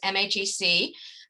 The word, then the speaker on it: MHEC: So about MEC, the Midwestern Higher Education Compact is headquartered in Minneapolis, and we say it as MEC. We also know some people say it as MHEC.